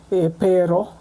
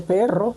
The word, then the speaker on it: perro: I used to say pero, I never used to say perro, but they never understand why.